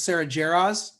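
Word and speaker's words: Sara Jarosz: and i did not know that's how you pronounce her name so it's sarah jarraz thank you for helping me with that i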